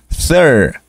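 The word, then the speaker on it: thirteen: ser una excepción porque no es re sino es thir thir esta cosa no se pronuncia no decimos titín pasamos del sonido th que ya lo conocen al sonido de r que también ya lo conocen tenemos dos sonidos Aquí nada más th r y luego la palabra Tin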